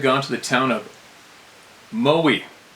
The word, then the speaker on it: Moe: On this night, me and my friend had gone to the town of Moe, pronounced Moe, to the Ice nightclub.